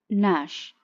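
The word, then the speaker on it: gnash: Ji silent, नैश।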